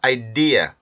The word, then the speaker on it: idea: 은 없어지는 손입니다 알겠죠 그래서 이거는 ide 아니라 아이디에 아이디에 이런식으로 발음을 해 주셔야 되요 자 그러면 그 문장에서